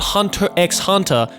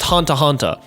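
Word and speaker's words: Hunter × Hunter: any of the titles it's not hunter x hunter it's just hunter hunter it's not spy x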